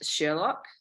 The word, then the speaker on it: Sherlok: The company's name is Sherlock. So that's spelled SHERLOK, Sherlock.